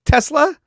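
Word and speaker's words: TeSlaa: Tesla?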